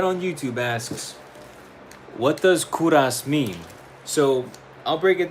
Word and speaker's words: Kovras: Kuras is it's my name, but with the the U is switched with a V. So it it it spells out Kovas, but it's I pronounce it Kuras.